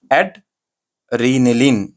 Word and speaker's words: एड्रिनलीन: ओ sorry कभी कभी-कभी जो है ना जुबान स्लिप हो जा रही एड रिनलिन ऐसा पढ़ना है इसको एड एड रनलीन मतलब जितना हिस्से करके पढ़ेंगे सही से सही प्रोनाउंसिएशन होता।